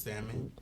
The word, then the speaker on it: salmon: most popular dishes is salmon okay it's silent pronunciation and listen give us